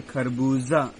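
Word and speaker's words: खरबूज़ा: उसके बाद खरबूजा, जा के नीचे बिंदु लगा हुआ है, उसको हम ध्यान देते पढ़ें खरबूजा।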